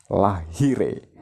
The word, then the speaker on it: Lahire: Jadi kartu hati itu adalah seorang kesatria bernama Lahire. Tulisannya Lahire ya, bacanya Lahir.